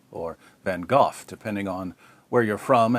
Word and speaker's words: van Gogh: Vincent vano or van or van H or van gof depending on where you're from and how far